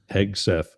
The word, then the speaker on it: Hegseth: Hegseth? Hegseth.